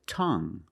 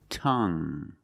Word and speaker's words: tongue: And we have this word tongue. The u e at the end is silent. So we pronounce it like young. Tongue. You have only the nasal sound. There's no g. It's just the sound m.